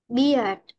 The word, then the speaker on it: beard: And bear. Beard.